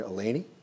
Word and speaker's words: Eleni: And here to tell us about it is my friend Eleni.